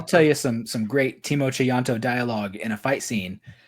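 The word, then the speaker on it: Tjahjanto: I was saying Chayanto because I took account of the J's, but it is Timo Chayanto.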